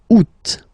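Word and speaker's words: août: The first one you don't pronounce the final T the U. Second one you pronounce it oot.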